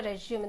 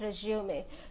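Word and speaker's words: résumé: See how to write a resume. The pronunciation, though you see a spelling as RURESEMUME, sorry, so the pronunciation is like this: resume. This is the pronunciation of resume.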